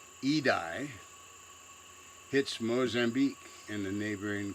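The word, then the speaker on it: Idai: bit earlier than that cyclone it's pronounced edye hits Mozambique in the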